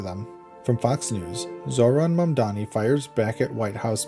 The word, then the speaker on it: Mamdani: Zoran Mdani, New York City mayoral candidate, clapped back after the White House mispronounced his name as Zamani in a viral Tik Tok set to hollowback girl.